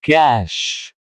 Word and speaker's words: cache: Cache. Meaning in Hindi, cache संग्रह. Pronunciation in Hindi, cash.